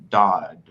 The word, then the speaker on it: Daud: and today we have the honorable guest, Somaiya Daud. Hi. Daud. Yeah. Daud? It's not spelled how it's pronounced.